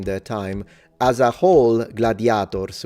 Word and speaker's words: gladiator: As a whole, gladiators, with a long A in phonemic vowel length. Gladiator, not with the S, sorry, drop the S. Gladiator is how they say it in Latin.